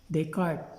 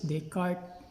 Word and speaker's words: Descartes: french mathematician named rene descartes they pronounced it descartes but we can just pronounce his descartes develop what we call